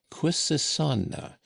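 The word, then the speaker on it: Quisisana: lettering was the word quissana by which name the retired little dwelling was known throughout the town where they pronounced it with a very soft s and a very broad a.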